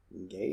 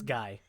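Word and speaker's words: Gae: Gay? That's Guy. Guy? It's spelled, okay. Guy. See, yes, see, and thank you. In my notes, it's G-Y, like the guy from the 90s.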